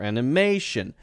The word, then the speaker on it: animation: motion or emotion or animation if you have that Tio n at the end then it's probably going to be stressed right in front of that okay so how